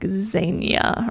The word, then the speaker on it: Zegna: already don't remember, but I usually pronounce it Ermenegildo Zegna, but I think it's like Zania or something like that.